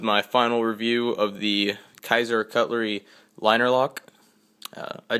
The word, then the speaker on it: Kizer: guys this is my final review of the Kaiser Cutlery liner lock uh I did find out that is pronounced Kaiser so I didn't know exactly how to pronounce